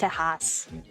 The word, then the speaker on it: Tejas: I'm sorry to the Texas boys, but I think it is properly pronounced Tejas. I don't make the rules. That's just how it is.